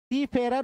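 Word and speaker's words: Seafarer: सी फेरर भी बोलते हैं।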